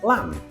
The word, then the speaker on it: lamb: Some examples are lamb, climb, thumb.